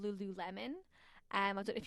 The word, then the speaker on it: Lululemon: one of these names some people are like Lululemon Lulu how do you say I'm like it's Lululemon it's a big yoga company